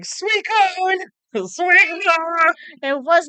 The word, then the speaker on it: Suicune: Suicune. Not, how did he say it? I want to say Purple Cliff said like Suicune or Sweet Swikune.